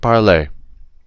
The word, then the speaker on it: parlez: These four are, they all sound the same. They're written differently, but they all sound the same. Our only different ones are parlons and parlez.